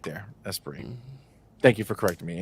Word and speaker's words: Esprit: Somebody said Esprit.